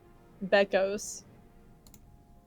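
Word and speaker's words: Bekos: Can you spell that? Beos. B E K O S. Beck. Beckos.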